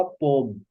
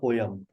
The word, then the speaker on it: poem: अभी तो इसके Poems अंदर and पोम्स कहते होंगे, आपने कहा होगा पोम, सुना होगा पोम, नॉट पोयम, पोम।